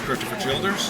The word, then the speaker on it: Christopher Childers: This is Christopher Childers. Did I pronounce that right? It's perfect.